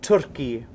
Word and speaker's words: twrci: Turkey. Really? Okay. Do you want to give that a try? Turkey. Turkey. We roll our R's.